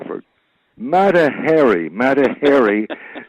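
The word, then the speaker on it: Mata Hari: Matahary, you know, pronounced Harry because chimpanzees are hairy.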